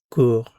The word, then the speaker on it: court: Il, elle, on court. Notice these three are pronounced the same.